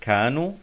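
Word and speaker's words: كانوا: number 10 home kanu the aleph ending kanu is not pronounced but has a grammatical task especially when it comes after the letter woe but it's not always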